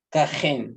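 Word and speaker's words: כָּהֵן: ¿Cómo se pronuncia ahí entonces? Cajen. Kajen, muy bien.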